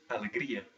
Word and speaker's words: alegria: more syllables than three for instance uh joy which is alegria that has four syllables but still the stress is on the second to the last or penultimate syllable well that seems simple